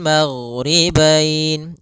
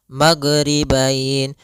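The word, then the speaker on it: المغربين: Kemudian di sini huruf ghain hati-hati dalam pelafalannya jangan sampai memantul. Jangan maghribain warabbul maghribain sampai dia memantul. Ah karena huruf gin tidak ada sifat qalqalah, tidak ada sifat pantulan.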